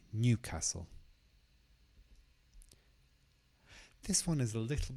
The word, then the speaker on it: Newcastle: So the stress is on the first part, Newcastle.